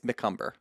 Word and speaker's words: McCumber: It's from Jennifer McCumber. That's how you say it. She put at the very end, it's McCumber.